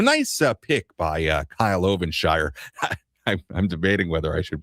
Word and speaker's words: Ovenshire: And for Kyle Ovenshire, his name is spelled O V E N S H I R E.